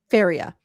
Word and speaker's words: Faria: So Russ Farah, is that how you say it? Faria Yeah.